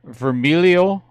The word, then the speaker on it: Vermiglio: manager from kendall is it uh vermilio or vermiglio is there a g in it there's a g in it well you don't pronounce it silent g yup you know i